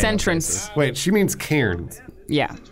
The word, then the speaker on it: Cairns: Wait, she means Cairns. Yeah. Not Cairns. Cairns? Well, I mean, I think how she pronounces it is probably how it's pronounced.